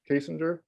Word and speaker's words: Kasinger: name right uh kasinger oh yeah silly me singer like she's an okay singer okay and then uh